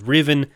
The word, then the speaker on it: Riven: pronouncing Revan wrong so I really have to stress that this is a different guy this is Riven not Revan the school operated under